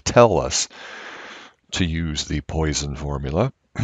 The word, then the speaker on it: Poisson: just call it the poison uh distribution but it is actually a french mathematician who figured it out and it's pronounced poisson or something along those